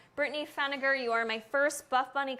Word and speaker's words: Pfenninger: I'm gonna say the P is silent. Brittany Feniger, you are my first Buffbunny collection gift card winner.